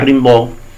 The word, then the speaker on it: Rimbaud: Rimbaud se escribe R-I-M-B-A-U-D y es francés de origen y se pronuncia Rimbaud.